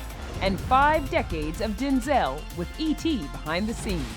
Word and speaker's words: Denzel: off you and while you've probably been saying his name wrong this whole time my name's actually Denzel it is not yes